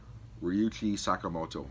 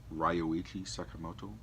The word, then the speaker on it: Ryuichi Sakamoto: Laurence touring David Bowie and the soundtrack is done by Ryu T Sakamoto I always say his name wrong ryuichi sakamoto name is Merry Christmas mr.